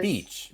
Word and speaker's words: beach: So when you pronounce and you go walk by the sea on the sand, we pronounce that beach, Beach. Beach. beach, Beach. just like peach, but beach.